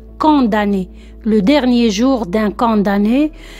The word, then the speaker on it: condamné: condamné attention il ya quelques élèves qui prononce comme d'amener non c'est condamner le dernier jour d'un